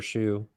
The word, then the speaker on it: Hsu: company called rhythmic and a company called shoe it's spelled Hsu so at least check